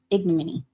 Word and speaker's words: ignominy: word ignominy I think I was saying it right ignominy if anyone doesn't know what it means it's the infliction of disgrace or dishonor the state of being degraded or held in contempt or infamy thought I was saying it right at least according to the interwebs that's funny I'm looking